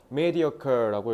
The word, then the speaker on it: mediocre: 인공지능은 어 그래서 as루 and Pascal rest have pointed out brilliant technologies are much preferable for labored mediocre ones. Mediocur라고 읽으면 되고 이거 시업자는 그니까 그냥 좀 이류 이런 뜻이야.